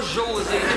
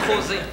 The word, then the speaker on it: José: pas José, c'est José. Parce qu'en espagnol, on prononce pas les J. Fait que ça sonne José, avec un H.